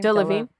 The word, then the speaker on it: Delevingne: Cara, how do you pronounce her last name? Delevingne.